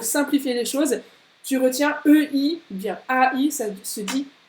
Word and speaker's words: Ei: Donc, c'est bien le EI qui fait Ei. Ei. Vraiment comme quand tu te fais mal.